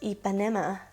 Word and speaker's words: Ipanema: becca sunlit bronzer in ipinema sun i think that's how you say it my mom told me it's ipanema but that sounds weird i actually really do